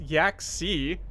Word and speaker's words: Yaxi: We have the new invite code right now, and I have been pronouncing Yax's name wrong. Sorry, it's Yaxi. Yaxi, which is actually a very cool sounding name.